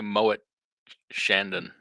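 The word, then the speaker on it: Moët & Chandon: don't know mo chandren usually the T on something like that is silent let's go say Moet Shandon how about that okay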